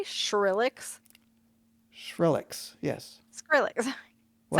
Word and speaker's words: Skrillex: Did you say Skrillex? Skrillex, yes. Skrillex. What? Sound like SH. It Oh. sounded like SH. I'm sorry, Skrillex. There you go. Yeah, I probably do pronounce it like a H for some dumb reason.